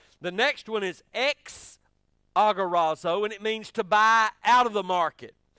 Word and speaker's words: agorazo: And those words are, I like this, agorazo, A-G-O-R-A-Z-O. That probably ain't how you pronounce it, and ain't nobody from Texas can pronounce it right.